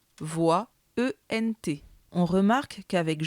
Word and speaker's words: voit: un s voix attention on prononce bien voix et non pas voyais ce qui est absolument incorrect que doit-on retenir de